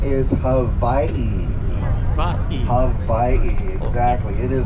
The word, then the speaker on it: Hawaii: only 13 letters, and when you have a W in any Hawaiian word that's not the first letter of that word, it is pronounced like a V, like Victor.